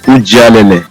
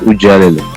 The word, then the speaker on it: Ujalele: It's actually pronounced Ujalele. That's the actual pronunciation.